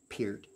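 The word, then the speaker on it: Peart: Pier you know I I normally pronounce Neil Pier I've heard him he himself say his name last name is pronounced Pier uh in any case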